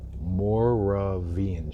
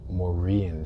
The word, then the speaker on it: Moravian: How would I pronounce that? Moravian Street. Moravian Street.